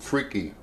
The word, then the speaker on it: Freekeh: I'm going to make some all fresh vegetables with this old world grain called Freekeh, and that's how you pronounce it.